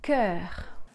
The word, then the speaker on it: cœur: C'est le mot cœur. Cœur. K-E-R. Cœur. Cœur.